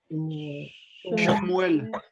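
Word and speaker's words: שמואל: Donc ici, le Sheva, il est muet. Shmuel. Shmuel. Le Sheva, là, il est voisé, parce que c'est Shiméon. Shiméon, tandis qu'ici, c'est Shmuel. Vous voyez la différence?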